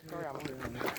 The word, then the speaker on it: Toriyama: Yeah, Toriyama.